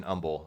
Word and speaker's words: humble: it is uh and you don't pronounce the h in humble so yeah um anyway